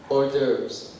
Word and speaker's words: hors d'oeuvres: How about the entree and how do you pronounce this? Hors d'oeuvres.